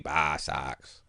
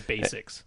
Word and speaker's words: BasX: x I don't know there's no there's no e bassx they say it's Basics like you know basic